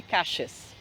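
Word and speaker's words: calles: descer caix é Rua aliás outro fonema dble L Doble L são dois Ls em espanhol a gente também fala com esse som de J isso é um fenômeno típico do espanhol rio platense que é o gismo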